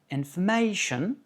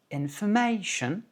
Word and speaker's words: information: Par exemple, information, information, la syllabe accentuée, c'est may. Pourquoi? Parce qu'elle est chantée plus aiguë, information, et en plus de ça, elle est longue, c'est une diphtongue.